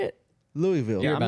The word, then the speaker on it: Louisville: He also says Louisville is Louisville.